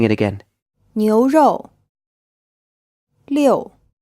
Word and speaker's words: 六: 六. This character is pronounced in the fourth tone, and it's the number 6.